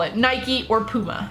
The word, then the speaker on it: Nike: products if you try to say that it's pronounced naik by the way you are completely wrong it's an American company its Nike but anyway I wear Nike products love it